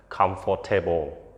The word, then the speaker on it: comfortable: something interesting so interesting is not interesting យើងចំណាំតែអានថា comfortable comfortable comfor for tableបជាៀងឬក៏យើងនិយាយថាបួនម៉ាត់ប៉ុន្តែតាមពិតពាក្យហ្នឹងអានឲ្យត្រឹមត្រូវគឺតែបីព្យៀងទេគឺ three syllable គឺយើងអានថា comfortableខេ comfortable not comfortable ជនកាលយើងអាចឃើញនឹងគេសរសេរ comfortable